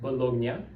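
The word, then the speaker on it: Bologna: He immediately went to the doctor and he went to the neurological institute of Bolognia in Italy that's how you pronounce it and he told the doctors I'm going to die in a year.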